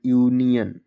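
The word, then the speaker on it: union: Taylor D ओ सी टी ओ R doctor you एन आई ओ एन यूनियन एल E double S ओ N lesson आपने देखा कि last में ओ एन या ओ आर है लेकिन जो हम ओ को पढ़ते हैं वो छोटा आ से पढ़ते हैं। आपको इतना ध्यान रखना है।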